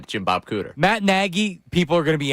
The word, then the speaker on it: Nagy: He pronounces it Nagy. I go with the Nag. So I Nagy. found a Chicago reporter that said it's like Peggy, but with an N. So it's Nagy.